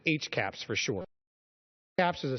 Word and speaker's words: HCAHPS: Hospital Consumer Survey of Healthcare Providers and Systems, pronounced HCAHPS for short.